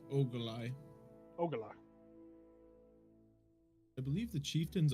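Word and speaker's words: Ogolai: or ugali or how how would you pronounce it even by the way? Uh uh it's ogalai.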